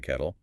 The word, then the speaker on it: kettle: Yes, depending on where you are from, the double t can sound very soft.